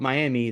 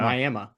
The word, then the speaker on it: Miami: It's spelled like Miami, Florida, but if you call it Miami, they will hate you for the rest of your life. It is Wow. Miami.